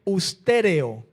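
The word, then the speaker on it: ὑστερέω: la palabra destituido, en el griego es con H, ustéreo, como suena, ustéreo, con H al principio, ustéreo.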